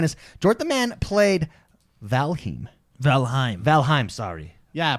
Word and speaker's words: Valheim: Jordan the Man played Valheim, sorry. Yeah, pronounce it right.